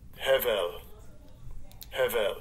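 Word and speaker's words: הבל: say that Hebrew word habal habal to a uh so-called Yiddish man Strong's h 1892. hevel that's how they pronounce it in the Yiddish a little different than How We Do they'll probably tell you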